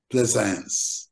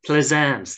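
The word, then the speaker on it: Plaisance: say it it's where you're from isn't it pleasance pleasance that's it yeah and I was talking about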